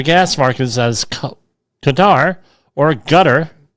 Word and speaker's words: Qatar: Armageddon scenario for gas markets as Qatar or gutter. I've always heard it pronounced gutter as Qatar.